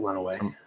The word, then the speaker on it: Lenawee: those into us Ryan is the county pronounced Len away or Lenawee let away run away okay that's what I thought because I know Chandler and Alex were saying Lenawee earlier and I was like I don't remember being bad I think it's went away yeah we pronounce it went away yeah from all the